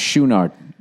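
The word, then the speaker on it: Chouinard: Oh, by the way, his drummer, I guess, is pronounced Schoonard.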